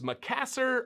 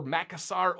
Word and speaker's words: Macassar: oil is known as macassar or makkasar oil i've heard it pronounced both ways i don't know i'm going to go with makkasar oil because it sounds cooler and this oil came